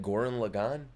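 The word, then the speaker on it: Gurren Lagann: __ ] M that's how you say it Goran Lagan now I know how to say it nice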